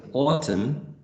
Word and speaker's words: autumn: For example, in the case of autumn or autumn, the final letter is not pronounced. Autumn, right? N is not produced.